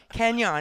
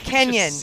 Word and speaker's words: Kenyon: And Bryce and Matteo are like, "Lisa, it is not Kenyan." And I said, "Kenyon Barner is the problem." And they said, "No, you're the problem." And so it's Kenyon.